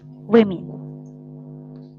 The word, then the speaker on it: women: go to women and here you have it stress with women women yeah okay so and if you say woman people will just hear a woman but they're talking about